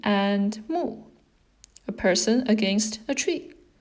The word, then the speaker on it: 木: And this one would be pronounced as 木.